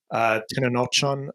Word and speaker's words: Tenochtitlan: There's the first scene where it's Tenochtitlan, I believe is how you pronounce it, the Aztec raid, where they're watching them all be slaughtered by the Spaniards.